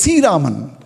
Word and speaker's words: Sri Raman: In one it will be Sri Raman, that is how Sri Raman is spelled. But in Tamil actually we call it as Si Raman.